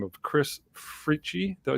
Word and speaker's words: Fritchie: We got a gentleman by the name of Chris Fritchie.